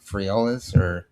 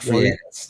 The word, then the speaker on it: Freitas: Uh Nick I don't know how to pronounce his last name. Nick Friaultis? He was uh a politician in Virginia. I don't know. Um Nick Freitas. That's it.